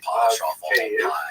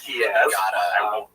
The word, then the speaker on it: Kyiv: That's the Ukrainian pronunciation, by the way. That's favored today because, of course, Ukrainian is the dominant language in the country. But it used to be called in English Kiev, which is closer to the Russian pronunciation because Russia dominated much of this area in the modern era.